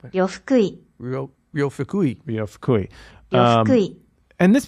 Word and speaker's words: Fukui: So this is a Japanese pianist named Ryo Fukui. I'm not sure how to pronounce his last name. Do you have that pulled up at all? Yeah, I don't know if this is correct. But Fukui. Ryo Fukui.